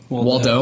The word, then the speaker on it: Waldau: pronounce that name right he though Waldo like where's waldo as well okay so